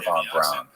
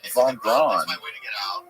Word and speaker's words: von Braun: Like, one of the things that blew my mind about Operation Paperclip was that these people like Werner von Braun, is it von Braun?